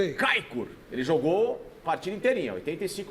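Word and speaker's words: Çaykur: mas no anterior que foi contra o Kaikur aqui, ó, eh também pela primeira divisão da Turquia, repita pronúncia, gostei. Kaikur, ele jogou partida inteirinha, 85 minutos praticamente.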